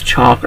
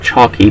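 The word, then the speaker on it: Chalke: Scrubs alongside Sarah chalk I don't if it's chalk or chalky I always pronounce it chalky because it means I know the E is there basically but she is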